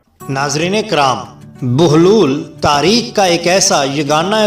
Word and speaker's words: بہلول: سے پامال نہیں ہوئی۔ ناظرین، بہلول کی بے پر پیش ہے اور ہے پر جزم ہے، لام پر پیش ہے، اس لیے میرے مطابق اس کا صحیح تلفظ بہلول ہوگا نہ کہ بہلول، لیکن ہمارے ہاں بہلول